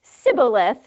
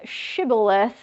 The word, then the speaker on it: shibboleth: So, if they said sibboleth instead of shibboleth, Oh, that's a fantastic question.